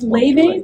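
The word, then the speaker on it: Laufey: that name I'm not it's Le but it's spelled like Lai it's like she's Icelandic Chinese I don't know but the so the name is l a u f i gota look those things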